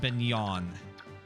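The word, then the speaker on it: Begnion: The Empire is pronounced Beignon.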